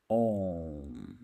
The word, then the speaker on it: ओम: कई बार हम सुनते हैं कि ओम का उच्चारण 3 अक्षरों से है, ओ, उ, म। नहीं, बल्कि ये ध्वन्यात्मक है, ओम।